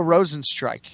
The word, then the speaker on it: Rozenstruik: Jairzinho Rozenstruik. Just like it's spelled.